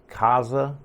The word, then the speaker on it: Kasa: look at the tp-link kaza i think it's kaza i've never really known how to pronounce this um i haven't ever heard anybody say it but i say kaza this is the spot